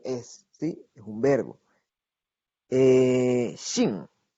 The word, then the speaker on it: 姓: 姓. 姓. Recuerden la pronunciación de la X y cuarto tono, ¿verdad? Nasal.